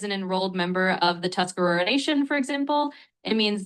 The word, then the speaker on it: Tuscarora: So you're saying it right. Tuscarora Nation is correct.